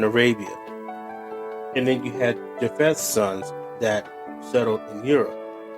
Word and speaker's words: Japheth: It's PH, Japheth or Japheth, however you want to pronounce it.